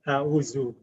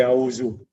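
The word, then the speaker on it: أعوذ: So in Urdu, you might say auzu. But in Arabic, the tongue has to come between the teeth for this letter.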